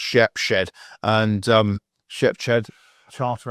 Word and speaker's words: Shepshed: I' got to make sure it's actually pronounced Shepshed.